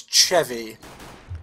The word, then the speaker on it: Chewy: It's not like the Swedish who actually pronounce it as Chevy. So, I see. Chewy was fine, but that's just because, like, the way that they have what we class as W's is, I think, slightly different in their language.